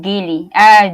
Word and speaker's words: Gili: it's pronounced Gilly or Jilly now that you said it both ways. I could be very much mispronouncing that, so I'm sorry if it's Jilly. Is it Jilly, you think? I pronounce it Gili.